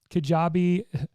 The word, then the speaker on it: Kajabi: about looking into kajabi well first of all kajabi if you don't know how it's spelled is k-a-j-a-b-i dot com and that's how